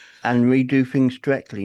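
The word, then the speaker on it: dreckly: And we do things directly. Not directly. We do things directly. Directly. No I. No I in there. Just directly.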